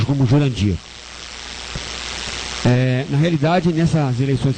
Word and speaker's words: Jurandir: ouvir o descaso que foi esse senhor o Jandir né porque o cara é tão essa pessoa é tão boa que ela nem usa o nome dela de Jandir ela se pronuncia como Jurandir eh na realidade nessas eleições que passaram eu